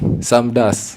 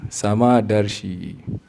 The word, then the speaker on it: Samadarshi: Like for me, many people in India, they call me Samdas. I know it's like an accent thing, but the name is Samadarshi. It's a big difference.